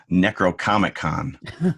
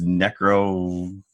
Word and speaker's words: Necronomicon: I thought that the Book of the Dead, they kept referring to it as Necrocomic-Con. And I'm like, that actually sounds like a good, I'd go. But it was Necronomicon. Nomicon. I was one syllable off there.